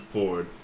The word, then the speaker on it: Fjord: FJORD, but he pronounces it Ford because he's Ford tough.